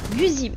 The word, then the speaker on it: Guise: Non, non, c'est pas ici, mais à prononcer comme Guzy.